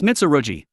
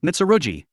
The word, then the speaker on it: Mitsurugi: been a while it's mitsuruji did you say it wrong on purpose remember my name properly it was the swordmaster who uses a magic sword mitsurugi aqua sama long time